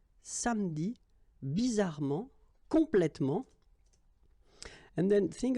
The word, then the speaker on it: samedi: Okay, same thing here, appeler, but then you get appeler, appeler, and then samedi. All right, so revenir, appeler, samedi.